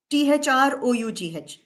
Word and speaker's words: through: Now, let us read this word, THROUGH. So then this should be throw, right? But no, it's through. So it rhymes with boo, right?